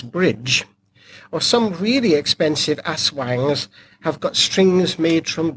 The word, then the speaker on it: Aswang: the the benefit of pronouncing the word correctly Aswang not a Shuang whatever you were talking